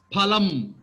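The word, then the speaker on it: फलम्: It is pal. Phalam. Phalam. It should be phalam only. In Hindi also it is phalam only.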